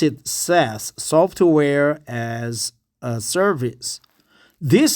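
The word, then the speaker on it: SaaS: we in inside KT we call it we pronounce it SAS but Americans pronounce it says software as a service this system is automatically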